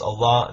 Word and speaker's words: Allah: hebrew aramaic and arabic and in arabic it's pronounced allah that it means god no different thank you